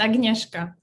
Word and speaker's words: Agnieszka: Is it Agnieszka? Did I pronounce that correctly? Almost. It's Agnieszka.